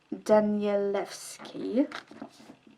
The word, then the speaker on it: Danielewski: canada america uk thing oh you say it danielewski this book is so